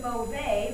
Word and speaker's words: mauvais: So adding this E beside this consonant means I'm going to pronounce it now. So over here is mauvais, but when I add an E, it becomes mauvaise.